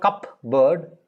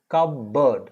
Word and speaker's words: cupboard: now remember for cupboard it's not cup bird it is cub bird cub the b is pronounced p is not pronounced b is pronounced p